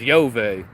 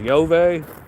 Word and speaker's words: Yahweh: I mean, Jupiter is Yahweh in ancient Latin, right? His name is pronounced Yahweh.